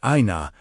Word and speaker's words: Ayna: Ayna, pronounced approximately Ayna, means eye, and by extension can evoke seeing or vision.